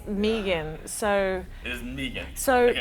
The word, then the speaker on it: Megan: pronounce it is like pronounce it with two E's even though there's no two E's okay so most of the time people when they first hear it they think Megan but and I'll answer